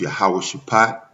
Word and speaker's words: Jehoshaphat: When you talk about Jehoshaphat in the Hebrew, it's pronounced Yahweh Shaphat.